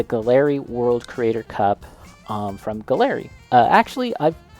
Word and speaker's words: Gaahleri: The Galley World Creator Cup from Galley. Actually, I've I always say Galley. I believe they're pronounced Gallery. Correct me if I'm wrong, but anyways, look at this.